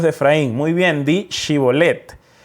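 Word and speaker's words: Shibboleth: decían a los de frames muy bien de chivo led y entonces el de frames y decías y volet porque ellos no podían pronunciar correctamente y volet central los de gala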